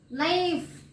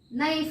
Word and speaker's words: knife: Like how I said now, knife. Okay, knife I said. We will not, while pronouncing the word, we will not tell this knife. We will not tell the letter K.